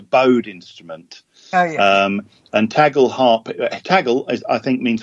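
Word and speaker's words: tagelharpa: another ancient instrument, the, I'm not going to pronounce it right, the tagel harpa? The tagel harpa, yeah.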